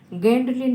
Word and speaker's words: Gwendolyn: কবির নামটা হবে উচ্চারণ গেন্ডলিন ব্রুকস। কে লিখেছে? গেন্ডলিন ব্রুকস। যদিও স্পেলিংটা GWENDOLYN, উচ্চারণটা হবে গেন্ডলিন ব্রুকস।